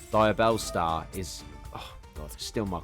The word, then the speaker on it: Diabellstar: Diabolesta. Like, genuinely, I ain't gonna lie, yeah. I know I said it wrong. Diabellstar is...